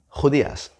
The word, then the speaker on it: judías: Judías.